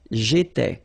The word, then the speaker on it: j'étais: Remember, here we've got accent aigu, so it goes like E, all right? J'étais, okay?